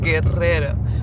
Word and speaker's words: Guerrero: That's what they're saying, Guerrero. But it's a really heavy R, so Spanish R's. You got to roll your R's.